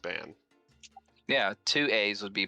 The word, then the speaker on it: Bann: ban banned from ban or is it Bon I think it's Bon it's ban on Rob pronounced it ban yeah two A's would